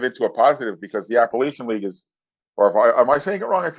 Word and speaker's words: Appalachian: a positive because the appalachian league is or if i am i saying it wrong it's in appalachian you were saying appalachian so it is technically apple it's the appalachian league